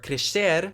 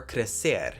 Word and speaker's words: crescer: So for words that have an S before any other consonant in European Portuguese, we have a sh sound. That means that we have pronunciations like descer or crescer instead of descer or crescer. In Brazil, as you may have guessed, people say descer or crescer without the sh sound.